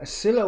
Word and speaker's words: Scylla: in Scylla and Charybdis, or Scylla and Charybdis. I've always pronounced the C as a silent one.